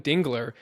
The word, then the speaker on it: Dingler: Are you aware that you mispronounce Dylan Dingler's last name? Dude, I write it down. I write it down every time. And every time I say it's Dingler, somehow an extra L just gets thrown in there every time I say it.